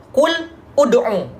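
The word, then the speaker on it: قُلِ ادْعُوا: Kul ud'u ya. Di sini ada dua sukun. Bertemu dengan satu sukun lam dan satu sukunnya hamzah wasal. Maka di sini dibacanya dhammah juga.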